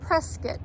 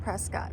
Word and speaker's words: Prescott: the locals say in the correct way to pronounce it is presc but it looks like Prescott so that's why I call it that kind